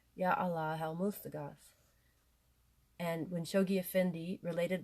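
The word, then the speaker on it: Yá Alláh al-Mustagháth: And my friends told me that you pronounce the H here, Yah Allah El Mustagath.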